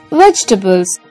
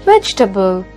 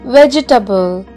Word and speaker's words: vegetable: time it's mispronounced as vegetable it's wrong the correct pronunciation is vegetable vegetable and not vegetables when we pronounce this word we should completely forget the letter e after g vegetable i'm going to